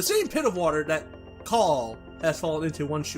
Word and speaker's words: Call: Call. The subtitle says Call. Yeah, but everyone pronounces it like Cole.